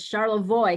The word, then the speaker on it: Charlevoix: uh is it charlevoix county um am i pronouncing that right jill it is charlotte voy coney void county okay i wanted to i